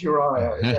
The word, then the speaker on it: Uria: But it's Uriah.